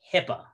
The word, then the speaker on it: HIPAA: usar okay and then an abbreviation is still considered an acronym if it is pronounced as a word for example health insurance portability and accountability act or as we so know it as hipaa right h-i-p-a-a hipaa all right medical abbreviations